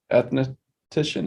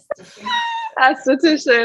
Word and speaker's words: esthetician: lot about skin so are you an ethnician is that how you say it how do you say it esthetician esthetician i don't know